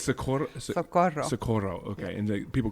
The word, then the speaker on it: Socorro: Okay, Socorro. Socorro is a very hard name to pronounce. So you got to roll the R's.